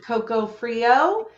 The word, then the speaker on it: Coco Freeo: I'm with Coco Freeo. Am I pronouncing that right?